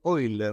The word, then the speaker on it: Euler: quier acerca de el número de Cómo se pronuncia Euler que casi eiler no el número deiler Cómo fue la historia